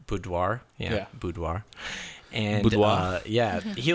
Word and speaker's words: boudoir: his last name sorry if I said your name wrong um but he does Bert Boote boudoir yeah boudoir and yeah he like he's really